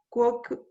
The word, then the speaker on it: quoque: Arabia quoque in Asia est. Siria et Arabia in Asia sunt. Germania non in Asia, sed in Europa est. Britannia quoque in Europa est.